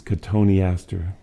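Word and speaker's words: cotoneaster: limbed beings themselves these cottony aster tony aster spelled like cotton easter but pronounced as if tony astor sneezed when he said his name many lifeless branches have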